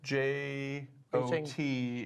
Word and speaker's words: JWT: are you pronouncing that jot like j-o-t j o t is the pronunciation of JWT exactly yes that's the